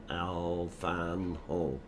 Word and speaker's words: Alfano: And pronounce Alfano. Alfano. It's Italian.